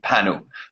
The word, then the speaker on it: Panu: So my name is pronounced Panu. Panu. Okay, that makes more sense. Like not. I was thinking like Pan, and I'm like, well, it's probably not.